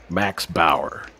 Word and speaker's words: Max Bauer: Max Bauer. But yeah, you put the right emphasis on the right syllable there.